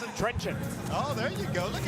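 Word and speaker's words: Trenčín: Can you pronounce it? Trencin.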